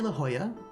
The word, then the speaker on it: La Jolla: We don't say La Jolla. We say La Jolla, so that's all right. Like there are a bunch of it's like they can like whether or not it's pronounced like in a more Spanish way or a less Spanish way is a little bit inconsistent in California.